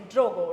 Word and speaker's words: Drogo: The name brand is Drogo, right? I pronounced right?